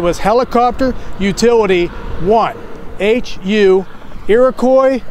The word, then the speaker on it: Iroquois: It has three syllables, a Q, a U, a silent S. There's no way Army guys was gonna say Iroquois.